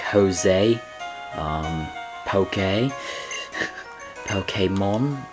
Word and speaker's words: Pokémon: So like Jose um poke pokemon. It's so uh that's the reason I feel like that's the way it actually should be pronounced. Not pokemon. Pokemon.